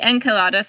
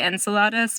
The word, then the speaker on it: Enceladus: right approach supposed to I think Enceladus is probably closer to the Greek I would say Enceladus because that sounds more like what the quote unquote English